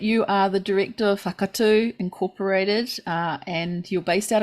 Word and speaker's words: Wakatū: Wakatū, thank you. Yeah, Wakatū, and AuOra is perfect.